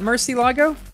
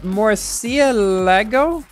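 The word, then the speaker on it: Murciélago: that kinda oh yeah wait it's not Mercy logo it's more more Sia Lego that sounds weird to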